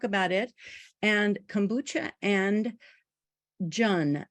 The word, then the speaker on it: Jun: And kombucha and Jun, J-U-N, rhymes with sun.